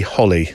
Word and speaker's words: Holi: bit picky but I think you'll find it's pronounced h as in happy Holly you say tomato I say tomato yeah yeah